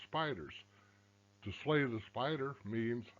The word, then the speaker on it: SPDRs: depository receipts spdrs and it's pronounced spiders to slay the spider